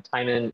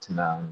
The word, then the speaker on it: Timon: Hi, I'm Timon. It rhymes with Simon. It's not Timon.